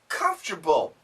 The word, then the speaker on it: comfortable: It's more comfortable. And this is interesting. Look at the word. The word says comfortable. If you check a dictionary, comfortable. But nobody says that. We almost always say comable.